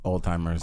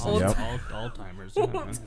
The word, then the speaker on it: Alzheimer's: this one hue does all the time alzheimer's old-timers alzheimer's alzheimer's disease bro they're just all timing and then apparently people pronounce australia as australia what